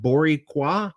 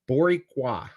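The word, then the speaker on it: Boricua: it skipped uh uh borua is what people from Puerto Rico are called pronounced boriqua oh so I totally ripped it I apologize Bor boriqua I I don't speak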